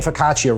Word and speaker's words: focaccia: Oh, by the way, I've been saying focaccia wrong the whole time.